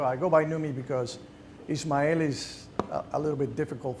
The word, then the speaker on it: Ismael: English speakers to say, and I always got Ishmael. One time I got a kid that asked me, like, so exactly how do you say your name? How do you pronounce it? And I say, Ismael. And he said, Ismael. I said, yeah, you got it right.